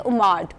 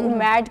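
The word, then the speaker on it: OMAD: इसकी एक और विंडो आती है जो कि है उमाड, 1 मील अ डे। इसको उमैड भी प्रोनाउंस किया जाता है, इसको उमाड भी प्रोनाउंस किया जाता है।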